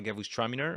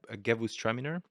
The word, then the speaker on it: Gewürztraminer: At some point, we will have, for example, a Gewürztraminer, which is super pronounced. It's super aromatic. A what? A Gewürztraminer. Oh, yes. Okay. Gewürztraminer.